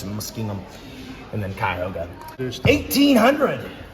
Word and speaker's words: Muskingum: The tribes cede all claims to land in the Ohio country east of the Cuyahoga and Muskingum rivers.